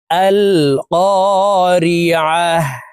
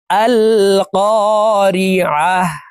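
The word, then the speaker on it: القارعة: আল কারিয়া মাল কারিয়া প্রিয় দর্শক আমি বানান করে আপনাদেরকে সঠিক উচ্চারণ ভাবে বলে দিচ্ছি।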